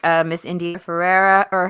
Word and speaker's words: Ferreira: they bring on amazing guests, like Miss India Ferreira, or how do you say her, Ferreira? Am I saying it right? Farah? I always Indifferent. India Fair. Farah.